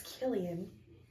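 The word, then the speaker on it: Kilian: wear our killan honestly or Killian I knew it I knew it was Killian o I tried to convince myself that I was saying it wrong all that time I was saying it right and then I started saying it wrong it's Killian um I got good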